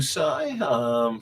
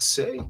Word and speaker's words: Sai: Good morning to you too, Sai. Thank you for subscribing. Yes, you can get a card. It is Sai, or Sai, not Say.